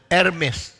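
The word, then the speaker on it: Hermès: 现在你们女人最喜欢的皮，这个钱袋叫做 Hermes， Dan tas yang paling disukai kalangan wanita bermerek Hermes, 这原来应该读成 Hermes， yang harusnya dibaca secara Hermes, 但是你们照着 Herm Hermes，其实应该读 Hermes。 harusnya dibaca Hermes bukan dadahannya.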